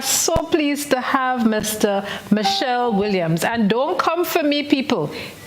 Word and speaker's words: Michelle: Michelle Williams? Yes, that is very correct. It's not the shell that is missing, but it is definitely, that is my name, Michelle, the French one.